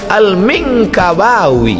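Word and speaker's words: al-Minangkabawi: Alif wauya 9 huruf saya masih tengok apalah cara bacanya Alif Lam Mim Nun kabba Alif wawiyah rupanya lama saya baca al-mingkabawi Minangkabau Syekh Ahmad Khatib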